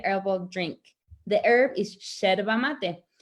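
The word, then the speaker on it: yerba: drink the herb is cherva mate it's spelled with a y and in argentina we say the y is like an sh so cherva mate can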